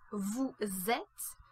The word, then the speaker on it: vous êtes: You might have noticed that in front of a vowel sound, certain consonants which are usually silent get pronounced, which is the case with vous êtes, where the final S is pronounced as a Z sound.